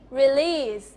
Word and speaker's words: release: อะไร คะ rel อ่า stress ที่ พยางค์ หลัง พยางค์ นะ ออก เสียง อะไร ที่ มัน ออก จะ ส อิ อี อะไร ก็ แล้ว แต่ เนี่ย ถ้า เกิด ไม่ เน้น จะ ออก เสียง อิ จะ ออก เสียง สระ อิ release อ่ะ ลอง ออก เสียง สิ คะ release rele หมาย ถึง